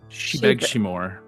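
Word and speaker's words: Sí Bheag, Sí Mhór: And how do you pronounce that fairy tune? Is it Shobeg? Shebeg Shimor. Shebeg Shimor.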